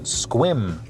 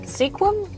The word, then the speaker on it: Sequim: Quick pit stop for gas and food in Squim. Is it Sequim? Or is it Squim? It's spelt Sequim, but everyone pronounces it Squim.